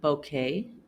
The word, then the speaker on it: bouquet: However, the Q can also sound like k in words that come from Latin. For example, bouquet, mosquito, plaque, antique, and boutique.